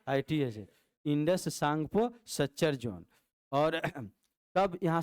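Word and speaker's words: Tsangpo: से सांग टी एस एन पी ओ माने सांगपो टी साइलेंट हो जाएगा और एस से सच्चर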